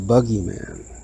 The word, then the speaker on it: boogeyman: If you ever shortened that U, it's actually a U, it's not 2 O's as it's spelled. You come up with the boogeyman, or the bug man,